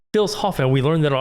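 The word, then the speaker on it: Vilshofen: And I will say for 5 years I pronounced it wrong. If you read it, I don't know as Americans were like it's Vilen. No, it's Phil Hoff and we learned that on our last cruise.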